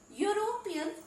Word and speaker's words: European: European, though it begins with E, but here also the sound it is producing is U.